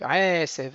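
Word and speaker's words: עשב: Donc aesev et pas aesev. Aesev. on ralentit sur le aï, sev.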